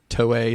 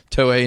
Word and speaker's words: Toei: The story that line is taken from is it Toei? Is that how you say it? Yes. Toei in Japan with Toy.